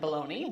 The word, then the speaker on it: Belloni: the year is Matt Belloni, one of the founding partners at Puck. Did I say it right, Matt? Welcome. It's Belloni, but that's okay.